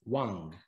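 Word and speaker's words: 王: This is expressed in the Chinese character for king that you see pictured and that is pronounced as Wang.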